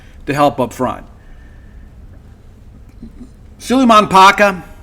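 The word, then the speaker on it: Kpaka: Suleiman Paka, it's spelled K-P-A-K-A, but it's pronounced Paka. The K is silent.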